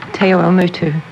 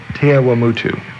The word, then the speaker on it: Te Awamutu: She is from, pronounce the name for me. Oh, Te Awamutu. Te Awamutu.